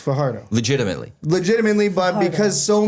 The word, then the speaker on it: Fajardo: A couple other players were there, such as Cody Fajardo, which it's actually pronounced Fajardo.